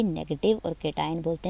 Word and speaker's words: cation: Some students are even pronouncing it wrong, like केशन और एनियन, कुछ अजीब सा प्रोनाउंस भी कर रहे होते हैं, प्रोनाउंसिएशन को भी ठीक कर लिया करें। केटाइन, CAT, कैट से निकला है केटाइन, एंड एनाइन।